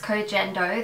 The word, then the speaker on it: Koh Gen Do: So I believe it's pronounced Cogendo, that's the way I say it anyway. I've heard people say it Cogendo, but basically it'll be obviously in the title of the video the way it's spelt, so you can decide however you want to pronounce it and go with that.